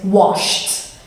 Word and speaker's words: washed: to be quiet but also an example with a sh sound is washed i washed the dishes yesterday the next